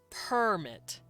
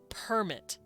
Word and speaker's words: permit: on the first syllable permit but if i say i didn't permit that the stress is on the second syllable permit permit and that's how we know a permit is a noun it's a piece of